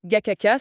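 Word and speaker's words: Gacaca: Face à cet impasse, les autorités rwandaises ont dû trouver une autre solution et c'est là qu'interviennent les juridictions Gachacha. On prononce Gacha. Gaka, ce sont ces tribunaux traditionnels.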